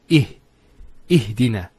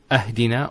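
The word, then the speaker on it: اهدنا: Although there's a kasra here, because we say Ihdina. It's not Ahdina or Uhdina.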